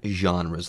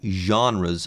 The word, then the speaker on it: genre: These would be different genres of movies or genres of films. And yes, the word is genre. Pronounce it that way. It's French.